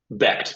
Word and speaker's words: Becht: So Rocco Beck is how you pronounce it? Becht, yeah, his dad was Okay, Anthony Becht, who played tight end for the Rams.